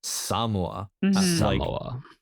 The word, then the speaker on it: Samoa: He's gonna have to go to and the the movie really wants you to know that the endmic pronunciation is Samoa. Welcome to Samoa.